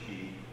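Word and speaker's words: Quay: That's pronounced Key.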